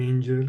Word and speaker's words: angel: Angola Angola Angola well the G in the world Angel is pronounced as J in the name John right and you understand because this one why it's followed by an e so that one sounds like a j angel and this one is